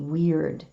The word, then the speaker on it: wyrd: It's spelled WYRD, weird.